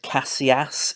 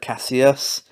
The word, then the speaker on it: Kassius: rates the reporter for pronouncing his name as classy ass instead of Casillas and then he gets